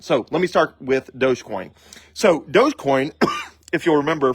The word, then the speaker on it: Dogecoin: this uh video on Dogecoin which is spelled D o g so it's spelled like doggy coin but it's pronounced Dogecoin and uh Sheba anuc